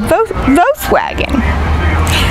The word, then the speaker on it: Volkswagen: I said, "Voose wagon."